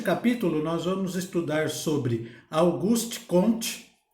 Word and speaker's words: Auguste Comte: atenção sobre augusto comte ele era um francês então tem a pronúncia processada de seu nome auguste comte auguste comte é mas não importa a